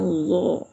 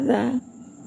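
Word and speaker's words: ض: Kemudian Do. Hm. Debal juga ya. Do. Jangan baca dza.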